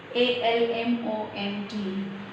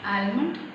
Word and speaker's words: almond: It's not almond, it is almond. Almond. L is silent here. Silent means when we write, L is there, but when we say it, L is silent. We just ignore L there.